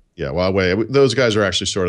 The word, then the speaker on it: Huawei: Yeah, Huawei. Those guys are actually sort of there. I don't know how you pronounce it, like Xiaomi or whatever that is.